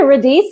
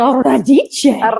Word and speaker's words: Radice: And she said Radice, and I said, oh, no. It's Radice. Radice. I love how you say that. I love that name. It is the true Italian pronunciation, right?